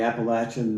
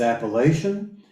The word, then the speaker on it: Appalachian: knows or not and that's going to be pronounced Appalachian and if somebody says appellation and they're not talking about the southern Appalachians it's always Appalachia coming at you anyway